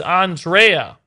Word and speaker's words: Andrea: It's Italian. It's Andrea with the E of leg.